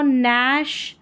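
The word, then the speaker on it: gnash: एन है नोम नो नैश यहां पर है नेट और यह है नस्टिक क्या है नस्टिक जी एन को पढ़ा न क्योंकि जी जो है वो साइलेंट है नंबर 14 पर है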